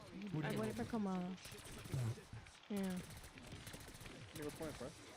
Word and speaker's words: Kamala: Camila Harris. Trump. Wait. You said it wrong. What's her name? You said it very wrong. Kamala.